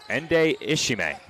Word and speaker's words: Ende Ishime: I have that pronunciation as Ende Ishime. That's how I have it.